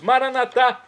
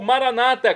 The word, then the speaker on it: Maranata: aramaico dialeto de Jesus maranat como dizemos nós católicos ou Maranata como dizem nossos irmãos separados os evangélicos ou protestantes não importa pronúncia o significado é o mesmo vinde Senhor Jesus um